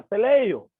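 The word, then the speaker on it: τελειόω: Cuando nosotros investigamos acerca del término perfeccionar, nos encontramos con un verbo griego que se pronuncia teleio.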